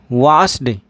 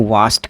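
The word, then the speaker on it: washed: वास्ड, वास्ड नहीं, आप बिल्कुल गलत बोल रहे हैं। आपको इसका जो उच्चारण है वो वास्ट करना होगा। कैसे? मैं लिख देता हूँ, वास्ट, वास्ट।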